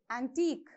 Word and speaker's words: antique: Antique. How do you pronounce?